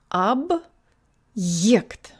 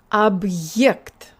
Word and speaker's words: объект: It's not ab, it's ab. And this also means that the y sound in yikt is very prominent. So this word sounds like this. Ab yikt. It's not ye with like in yes. Put your tongue higher and put more air through.